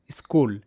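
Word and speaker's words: school: শব্দের অর্থ প্রতিধ্বনি পরবর্তী স্কুল এস সি H double O এল স্কুল এই শব্দটা পরিচিত প্রত্যেকেরই তো এখানেও সিএইচ ক হিসেবে উচ্চারিত এটা অর্থবিদ্যালয় পরবর্তী শব্দ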